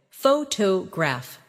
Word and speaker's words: photograph: For example, photograph, photographer, and photographic. The stress moves, and that changes the sound.